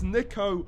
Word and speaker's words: Niko: It's Niko, not Niko.